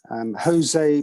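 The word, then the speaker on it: José: is jose jose jose pronounced not in the portuguese way but the spanish way um i quote to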